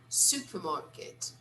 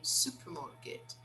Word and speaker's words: supermarket: is this supermarket supermarket you see how different supermarket supermarket they don't really pronounce the letter r they say supermarket but in american english we say supermarket supermarket you see it's a little different so here supermarket okay